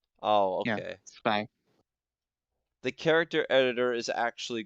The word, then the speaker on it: Zwei: His name is pronounced Zwei. It's German. Zwei? Oh, Yeah, okay. Zwei.